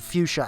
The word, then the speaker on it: fuchsia: disguising himself when he's literally a turquoise and fuchsia alien space tank and before you ask yes that is the correct pronunciation it's pronounced fuchsia you idiot still the missing sticker detail is